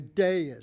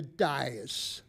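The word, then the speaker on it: dais: Robinson Mark clo Largo you're sitting at a de not a dis the word is spelled d a i doesn't have two eyes pathetic oh seen all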